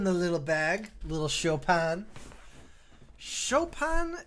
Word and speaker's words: Chopin: little bag little Chopin Chopin it's almost bug me that it's pronounced like an a when it's an i but show pin sounds awful Hokkaido where boys are